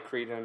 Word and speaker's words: Crichton: That is probably Cretan or whatever. As I always say, if they wanted me to pronounce it that way, they would have spelt it that way. Get rid of the CH and I won't say Crichton, okay?